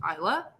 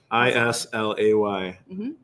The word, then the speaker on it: Islay: packing to our secret island you might go to isla so um it is pronounced isla uh which we did mention briefly before i-s-l-a-y isla yeah and then uh